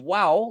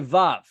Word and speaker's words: vav: So instead of wow, like historically, when the Bible was written, they probably said wow. Today we say vav. And so even in this chart, it has the modern Hebrew pronunciation, which is vav.